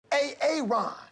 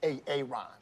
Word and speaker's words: Aaron: A-A-Ron. Yeah. Why didn't you say it the first time I said A-A-Ron? Because it's pronounced Aaron.